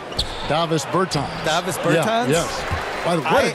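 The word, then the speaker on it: Dāvis Bertāns: bans is that how you say his name Davis Berton Davis Berton yes what a great stroke I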